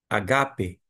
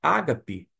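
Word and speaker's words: ἀγάπη: sílaba tônica deste modo Você lê em grego co enê agape agap é a pronúncia grega porque vem do verbo agap quando você fala Ágape seria uma transliteração e e aquele ajustamento feito para a nossa língua portuguesa por isso se você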